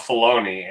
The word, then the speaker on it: Filoni: It looks like it should be called Filoni, and if it's Filoni, and you know that anybody whose name rhymes with baloney is somebody.